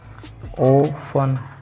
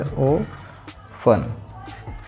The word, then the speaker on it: often: ओफन, आपने सुना होगा बहुत बार ओफन। इसका जो प्रोनाउंसिएशन है वो है ओफन, ओफन।